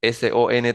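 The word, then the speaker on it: sont: atención a la pronunciación la diferencia entre estos dos es que en el et lo que suena es la s del del verbo s o n t suena Son son con esa s que está allí entre corchetes IL so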